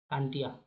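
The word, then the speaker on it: तांत्या: टांटिया टांटिया अंग्रेजों से सही उच्चारण नहीं करते बनता था तो इन्हें टांटिया टंटिया कह देते। टंटिया तो इनका वास्तविक नाम टंटिया है।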